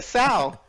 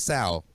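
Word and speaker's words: General Tso's chicken: do with the chicken he made it like a sow is is what right like a pig i'm just making sure you understand that you'll never forget how to pronounce it ever again it is what it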